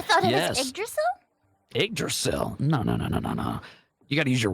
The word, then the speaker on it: Yggdrasil: How do you pronounce that, Lark? Oh, you mean Yggdrasil? The Tree of Life? I thought it Yes. was Yggdrasil? Yggdrasil?